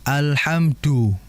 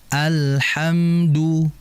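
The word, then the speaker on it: الحمد: medok biasanya ya sehingga jangan sampai baca da itu alhamdu ya alhamdu tidak seperti itu. Kita membaca Al-Qur'an itu bilhunil arab dengan lahjanya cara bacanya orang Arab. Maka dijelaskan dal alhamdu du du du ya jangan alhamdu ah.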